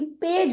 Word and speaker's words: page: PAGE पेज होता है, पेग नहीं होता है।